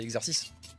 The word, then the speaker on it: exercice: on est bien d'accord mais c'est comme exercice qui pendant très longtemps éta appelé exercise par absolument tout le monde alors que c'est exercice oiseau c'est rigolo bon